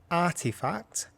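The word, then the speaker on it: RTFKT: virtual nft sneaker brand artifact that's RT k f t pretty sure I'm right with that pronounce the brand name yeah but so yeah it's after effects or RTF KT and then finally I'm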